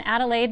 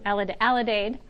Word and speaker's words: alidade: There's an Adelaide, or am I saying it right? Yeah. Alidade. And that was, they had a map on there and they would spot fires using that.